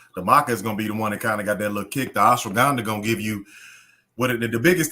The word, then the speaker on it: ashwagandha: I'm gonna go to Sam's and get me some ashwanda and maca. Is that how you say it? Yeah, ashwagandha.